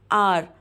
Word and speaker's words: hour: अब H जो है वैसे तो ये कॉन्सोनेंट लेटर है, लेकिन HOUR में H साइलेंट होता है और अ की साउंड आती है, ओ से स्टार्ट करते हैं और इसे बोलते हैं आर।